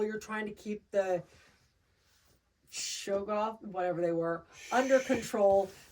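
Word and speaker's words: Shoggoth: anything in their path you pronounce it shogo I would say shog goth shog go h o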